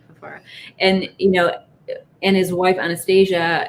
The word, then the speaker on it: Fafara: Is that how you pronounce his last name? Yeah, Fafara.